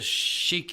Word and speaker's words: Sheik: with a Arab headdress, Sheik, Sheik, and then Your Booty is Yerbuti. So, and some people pronounce Sheik as shake, so it's Shake Your Booty.